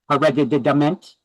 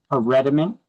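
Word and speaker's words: hereditament: That's how you pronounce that word. Hereditment. No, it's herediment. Okay, I know the these are new words. We never heard them before, but it kind of sounds like inherit, right?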